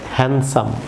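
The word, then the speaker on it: handsome: Viewers এখানে ডি এখানে silent থাকবে, এটি হবে হ্যান্ডসাম, আমার সঙ্গে বলুন হ্যান্ডসাম, হ্যান্ডসাম, নট হ্যান্ডসাম, হ্যান্ডসাম, হ্যান্ডসাম।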